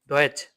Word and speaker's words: Deutsch: আপনি এটা দেখে তো অনেক সময় ইংলিশে অনেকে উচ্চারণ করে ফেলে, ঠিক আছে, ইংলিশে করা যাবে না, জার্মানে করতে হবে। ডয়েচ, জার্মানদেরকে বলা হয় ডয়েচ, জার্মানের ডয়েচ কি ডয়েচ।